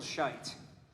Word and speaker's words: Scheidt: battle music all right samuel scheidt all right he's known amongst many many brass players uh not just because of his his name uh but because it rhymes with with flight because that's the way